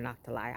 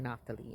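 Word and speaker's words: Naphtali: You can pronounce it nali or nalai. I say nali. And I believe that's how he said it too.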